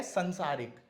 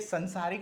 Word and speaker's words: सांसारिक: अब जैसे यह संसारिक, तो ये संसारिक नहीं होता है, क्या होता है? सांसारिक।